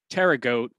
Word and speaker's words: pterygote: is the weird part it's p t e r y g o t e so the tricky part is that p but if you think of it it's it's like pterodactyl which is kind of a related word so prototerra goat um